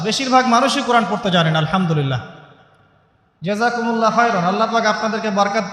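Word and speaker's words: الحمد لله: আল্লাহু আকবার আলহামদুলিল্লাহি রাব্বিল আলামিন এইতো আপনি পড়ছেন আলহামদুলিল্লাহ শব্দটা কি আলহামদুলিল্লাহ এই হা এর মাখরাজ কোথায়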